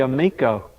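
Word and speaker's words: Ameco: Amico, how do you pronounce the it? Amico.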